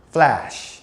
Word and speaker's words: flash: 이건 L 발음이기 때문에 L이 뒤에 이제 자음 뒤에 들어갈 때는 입이 쫙 벌어져야 돼요. 그래서 이제 flash 따라한다.